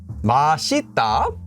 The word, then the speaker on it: 맛있다: marker so you don't say it you get masita okay that makes sense but then you don't